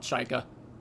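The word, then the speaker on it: Chykka: They just call it Chika. Not to be confused with Chica animatronic from FNAF. It's Chika because of the 2 Y's.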